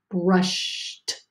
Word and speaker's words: brushed: When you hear a whisper sound at the end of your base word, the ED makes the T sound, makes the T sound like a T, even though it's spelled with an ED. So the word right here is brushed. Even though you hear that T at the end, it's spelled with ED.